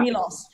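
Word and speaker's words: Miloš: How can you say it's Foreman, but Milos or Milos? Yeah. Milos. That's what it is.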